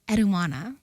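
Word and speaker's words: Enheduanna: I'm not pronouncing it correctly. Eduana, there we go.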